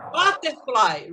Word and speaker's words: butterfly: Então, conforme eu falei, como tem duas palavras, que é um nome composto de duas palavras, a primeira sílaba da primeira palavra e você vai pronunciar com mais força. Butterfly, repeat.